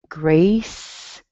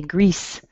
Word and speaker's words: Grace: Grace, Grace. Be sure that you use an A, Grace. You don't want to say grease. That's oily.